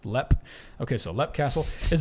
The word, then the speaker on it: Leap: almost precedes its reputation leap Castle pronounced leppe okay so let castle